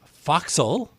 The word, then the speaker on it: forecastle: nautical turns for example what I always thought was boatswain is obviously bosun gunwale is gunnel forecastle is foxhole how do these terms